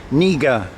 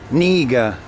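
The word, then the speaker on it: књига: This is a silent K, like it is in English, so it's pronounced Niga, Niga, Niga, okay?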